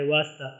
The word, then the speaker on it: واسطہ: جاتی ہے۔ اس طرح واسطہ میں جو تلفظ ہے تو کے اوپر ختم ہوتا ہے، واسطہ، ہا نہیں پڑھی جاتی ہے، سائلنٹ ہے۔ اسی طرح ارادہ میں،